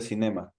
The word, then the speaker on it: cinema: Go to the cinema. Go to the cinema. Remember that the stress goes in the first syllable, okay?